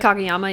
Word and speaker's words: Kageyama: Kageyama, yeah.